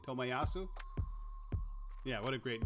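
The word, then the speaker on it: Tomiyasu: i'm sorry how do you say his name tomayasu yeah what a great name great signing for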